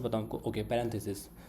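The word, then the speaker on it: parentheses: पहला सिंबल होता है कि कहाँ से बताऊँ आपको, ओके, पैरेंथेसिस। सो पैरेंथेसिस जो आपके ब्रैकेट्स हैं इनको बोलते हैं पैरेंथेसिस। स्पेलिंग पे मत जाएगा, फीलिंग पे जाएगा, ठीक है।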